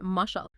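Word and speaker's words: משל: sounds strikingly similar to the Hebrew word for Parable which is mashall pronounced mushel okay what else do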